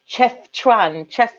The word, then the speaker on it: Chefchaouen: I can never pronounce it. It's Chefchaouen.